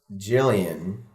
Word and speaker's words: Gillian: guess now I well seeing how our band is pronounced Gillian I have to go